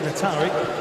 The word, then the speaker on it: Atari: I had to ask him how to say it. We were calling him Nater yesterday, but it's Atari West London.